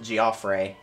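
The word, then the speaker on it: Geoffrey: one guy named Jeffrey it looks like Jeffrey but they pronounce it giofre so they're going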